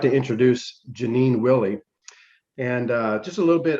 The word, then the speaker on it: Willey: So Janine Willey. Did I say it wrong in the beginning? No, you had it. Okay, good. Because I always in my mind it was Janine Wiley.